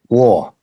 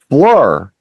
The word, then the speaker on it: Fleur: Floor. And I'm like, Floor? No, Fleur.